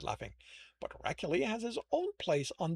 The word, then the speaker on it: Heracule: Heracule, like the way I'm rolling the R, feels like I'm adding an H there.